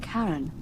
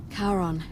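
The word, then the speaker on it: Charon: the name you heard wasn't karen it was okay h a r o n the ferryman of the dead karon who in exchange for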